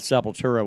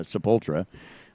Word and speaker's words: Sepultura: we he talked about Sepultura one week but he pronounced this uh sepultra which has been kind